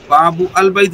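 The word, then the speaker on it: باب البيت: اس وقت ال کا حمزہ جسے حمزۃ الوصل کہتے ہیں تلفظ سے ساکت ہو جاتا ہے. جیسے باب البیت، باب البیت نہیں پڑھیں گے، باب البیت حمزہ جو ہے نا وہ گر جائے گا یعنی پڑھنے میں.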